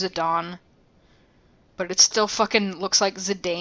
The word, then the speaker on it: Zidane: Don makes little comments I know it's Zidane because I played Dissidia and they pronounced it as it Don but it still [